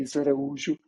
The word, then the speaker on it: Araújo: it's I'm uh if you want to pronounce my last name correctly ISU which is very hard for a lot of people in in the world Aro yeah you almost for